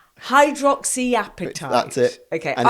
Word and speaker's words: hydroxyapatite: So say the name again for me, because I cannot pronounce this. Hydroxyapatite. Hydroxyapatite.